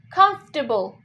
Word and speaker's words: comfortable: जो FO के बाद जो R sound होता है उसको silent हटा देते हैं and it's like comfortable.